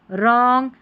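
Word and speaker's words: wrong: जब W और R साथ में आता है तो इसको र पढ़ते हैं, ये रहा उच्चारण, र पढ़ते हैं WR को, और W इसमें साइलेंट रहता है।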